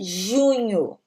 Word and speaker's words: junho: Junho.